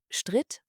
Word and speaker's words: stritt: de la différence : À l’infinitif, nous avons un long, mais au prétérit et au participe passé, le son [i] est prononcé très court et nettement : « stritt » et « gestritten ».